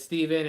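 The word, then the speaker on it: Stephen: My name is spelled the exact same way, but it's Steven, and you get called Stefan your whole life, and you're like, no, it's Steven, I promise.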